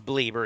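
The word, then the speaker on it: Bleier: It is Bleeber.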